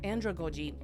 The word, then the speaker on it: andragogy: apply more of the andragogy pronounced as Andra go g is a theory that